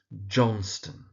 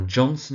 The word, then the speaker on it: Johnston: Johnston. So, Mrs. Johnston. Now, Johnson is sometimes also acceptable, but is clear in the play that it's Johnston.